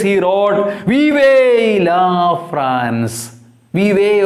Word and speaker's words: vive: Vive, or pronounced as Viva also.